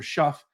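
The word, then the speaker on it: Shough: So Tyler Show, I believe it's pronounced or shuff.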